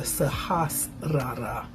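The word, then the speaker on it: Sahasrara: stated a moment ago the sahasa is how you say that and that's a word in Sanskrit as all of our language for the CRA has been in Sanskrit now this word sahasra is translated as thousand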